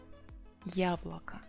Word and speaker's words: яблоко: apple, яблоко, it's feminine because they hear A there, яблоко. But as I said, O unstressed, so it should be A sound that you pronounce.